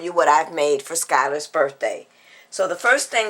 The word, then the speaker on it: Schuyler: It is pronounced Schuyler.